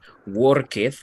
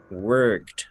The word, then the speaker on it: worked: Ok, entonces, por ejemplo, en vez de worketh, más bien, esto sonaría como worked. Aquí pongo cómo es la pronunciación, ¿no? Worked. Worked. Exactly. Después de la K, el sonido que produzco de esta ed es la T.